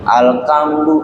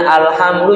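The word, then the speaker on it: الحمد: ada yang Pak baca orang baca H dibacanya apa k gitu alkamdu ada ini bukan dalam rangka menghina Quran ini mencontohkan sesuatu yang apa tidak benar kadang-kadang masih susah bedain antara Hamzah dengan Ain harusnya alhamdu jadi apa alhamdu jangan ya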